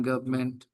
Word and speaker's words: government: Every country has one government. You're talking about the government. By the way, N is silent. N is so it is the government. The government. Yeah. It is not government.